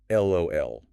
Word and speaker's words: LOL: For LOL and OMG, they are almost universally pronounced letter by letter. LOL and OMG.